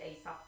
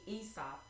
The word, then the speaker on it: Aesop: I always want to pronounce that Aesop for whatever reason, but anyway, the A is silent. It's Aesop, who was the 6th century